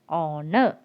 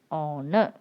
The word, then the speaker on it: honor: person and r and honor and honor okay i hope you understood because in this words the letter h is silent so you have to start with the next letter itself if it's a bubble